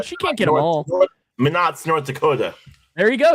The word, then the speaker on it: Minot: Isn't it Minot? Real. I don't know how to say it. It is real. It is real. So London's human. She can't get them all. Minot's North Dakota.